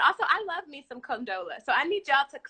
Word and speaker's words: Condola: If y'all don't stop calling her Corinthians and conditioner and condolences. Credenza. Somebody said control.